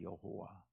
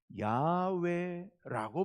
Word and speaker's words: 야훼: 보니까 이렇게 돼 있습니다만은 요즘 이제 음성학자들이 깊이 연구해 본 결과 야훼라고 발음한 것이 거의 맞을 것이다라고 봅니다. 왜 이 여호와 이게 어떻게 읽는지 글자는 있었는데 발음을 잃어버렸거든요. 발음을 잃어버렸다가 지금 이제 와서 요즘 학자들이 다시 연구해서 보니까 이게 야훼일 것이다 라고 보고 있습니다.